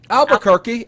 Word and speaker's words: Albuquerque: you say it in New Mexico what's that Albuquerque Albuquerque New Mexico filming it so I just